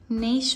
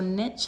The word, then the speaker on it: niche: This is where the shower is going to go, in this corner here, and you can see the little niche or niche, however you want to pronounce it, has been put in the wall at the opposite end, just underneath the window.